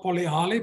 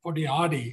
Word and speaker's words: Polihali: And this also showed in the next phase, which is Polihali, that's how they pronounce it in Lesotho. They pronounce sometimes the L's as a D. And so it's not Polihali, but Polihali in Lesotho.